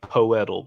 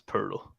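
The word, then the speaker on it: Pöltl: you remember it but it is yakup right yeah yucca pearl i know it's spelled like poetal but it's pearl okay all right i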